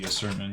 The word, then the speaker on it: Asurmen: Next up is Asurmen, or Sermon, but I suppose it's supposed to be Asurmen because men is pronounced definitely different than man, but who knows.